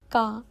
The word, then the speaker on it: か: আপনি যদি নিয়ম করে প্রতিদিন একটু একটু করে প্র্যাকটিস করেন তাহলে জাপানি শিখতে অনেক সহজ হবে।